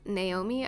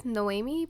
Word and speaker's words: Noomi: healthcare Redux mod also sorry that I keep pronouncing her name as Naomi I know it's noomi but I'm American so sorry about that we're